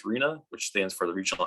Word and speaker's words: RHNA: what our rhna so we pronounce that as reena which stands for the